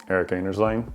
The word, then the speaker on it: Eric Anders Lang: Eric Anders Lang.